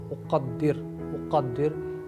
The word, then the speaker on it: أقدر: أقدر هذا okay always قاف أقدر هذا okay next one is